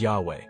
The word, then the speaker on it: Yahweh: vowels were introduced God's name was then commonly pronounced as Yahweh why HWH is derived from the Hebrew verb